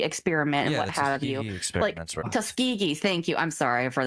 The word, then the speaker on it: Tuskegee: humans are usually black Americans like the Tusk Tuskiggee experiment and what have you. Tuskegee. Thank you. I'm sorry for the pronunciation.